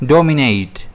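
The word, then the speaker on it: dominate: इसे हम प्रोनाउंस कैसे करते हैं? डोमिनेट। इसमें स्ट्रेस रहता है डीपर।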